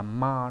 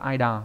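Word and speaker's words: 間: Chữ gian này đọc khá là nhiều cách, ví dụ như là đọc là ma đúng nhỉ?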